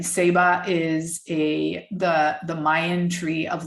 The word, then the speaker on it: Ceiba: Seba is the Mayan tree of life, and it's spelt CEIBA.